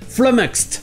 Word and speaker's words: flummoxed: Flummoxed, avec le O qui se prononce E.